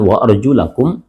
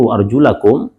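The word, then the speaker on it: وَأَرْجُلَكُمْ: di situ ada ayat, penggalan ayat mengatakan wa arjulakum dan wa arjulikum. Kalau kemudian kita membaca sebagaimana bacaan jumhur wa arjulakum, dan ada juga yang membaca wa arjulikum, dua qiraat ini ya secara bacaan ya dia bisa dibaca dengan dua, wa arjulakum dan arjulikum.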